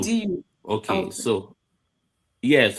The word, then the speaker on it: Audu: Yes, Audu. AUDU. Okay. I'll do. So yes, I call it Adu. So it's Audu. So the U has to be pronounced.